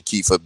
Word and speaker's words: Kepha: Kifa is spelled Kepha.